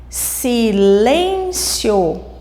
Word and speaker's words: silêncio: está na penúltima sílaba mesma coisa de silêncio silêncio a sílaba mais forte que nós falamos com mais ênfase está no Lem o fio é a última né E no caso a mais forte é Len que é a penúltima e as proparoxítonas as